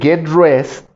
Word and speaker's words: get dressed: En cambio, cuando estamos utilizando el get dressed, que se pronuncie, que se escuche bien ahí, porque tienen que pronunciar la ed, get dressed, o si hablo he